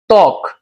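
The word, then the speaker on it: ত্বক: দেখ উদাহরণ তক। তক শব্দ দেখো একটা আদ্য বফলা আছে। এই আদ্য বফলা উচ্চারণটাকে আমরা এখানে দিয়েছি দেই নাই। কারণ আদ্য বফল উচ্চারণ কখনো হয় না। জিরো। কিন্তু আদ্য বফলা যার সাথে এখানে আদ্য বফলা কার সাথে যুক্ত? তর সাথে সেই তর উচ্চারণটা ঠিকই হবে।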